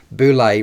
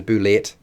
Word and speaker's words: bulette: called the Landshark the boulay pronounced bulay rather than the boulette as I said is